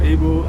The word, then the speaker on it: Abel: rightfully as you said it earlier on, one of the few people that actually pronounced my name correctly. I'll come and sing with you. Uh-huh. Yeah, so I'm Abel.